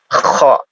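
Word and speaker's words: خ: Ya, cara pengucapannya ya kho, seperti berdahak ya. Seperti berdahak, tidak ho ho ho ho ho.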